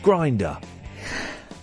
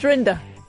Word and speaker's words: Rinder: Judge Grinder. Judge Rinder. Is it not? No. Because he was acting a bit. Well, yeah. Well, let's call him Judge Grinder. It's pronounced Rinder, is it? Not Rinder. Rinder.